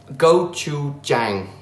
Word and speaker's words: gochujang: I've got some, okay, I need to be careful how I pronounce this one. Gochujang.